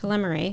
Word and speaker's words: telomerase: Telomerase.